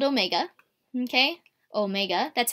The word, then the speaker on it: omega: looks like a w it's called Omega okay Omega that's how you say it is equal to